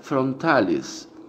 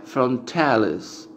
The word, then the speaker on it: frontalis: En latín sería frontalis. En inglés sería frontalis. Porque no le sale, obviamente, igual la pronunciación en el latín a los que hablan el idioma inglés.